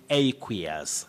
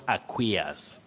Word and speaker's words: aqueous: aqueous is that correct letter a takes its name as the sound in that word you say aqueous not aqueous aqueous like we talk of an aqueous solution an aqueous solution not an aqueous solution ah no you begin with the sounding a that diphthong or if